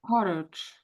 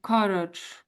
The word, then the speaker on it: courage: So I'll say them again: carriage and courage. So it's this vowel sound in here, isn't it? Really, just before the R.